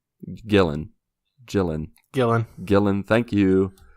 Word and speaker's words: Gillan: it's pretty awesome so shout out to Karen Gillian Gillan chillin Gillan Gillan thank you obviously Karen was